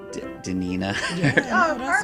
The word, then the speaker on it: Daneana: this and i probably need help on the pronunciation of your name danina danina's right you did a good job god